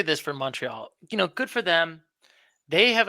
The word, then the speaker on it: Montreal: Yes, it's not Montreal. It's Montreal.